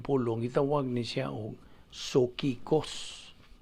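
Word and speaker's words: ψυχικός: Now, ang usa ka di magtotoo sa Grigong pulong gitawag ni siya og sokikos. P-S-U-C-H-I-K-O-S. Sokikos. Silent P mga na.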